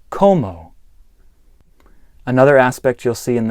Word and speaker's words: cómo: One note here is that the first O in the word como has an accent over it. That means that you emphasize that part of the word. So rather than como, which is a different word, it's como.